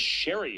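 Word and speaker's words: Scerri: Chris Sherry is going to make his debut for the Dockers. That's spelled S C R I.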